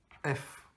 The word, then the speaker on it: Laurans: Laurans. S, ah oui, d'accord. Oui, j'avais compris F. C'est bizarre que ça fasse Laurent, mais en fait, c'est Laurence qu'on se prononce pas.